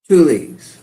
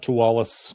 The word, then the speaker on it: Teweles: I mispronounced your last name in the review. It is actually Tulies. Tulies. Tulies everybody out there. Not Towalis.